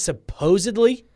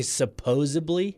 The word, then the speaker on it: supposedly: Another one is supposedly. Some people say suppose-a-bly with a B. Yes. It's with a D.